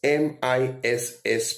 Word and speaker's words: Miss: However, in terms of pronunciation, how is MISS pronounced and how is MS pronounced? MISS is pronounced as Miss. That is pronounced as S.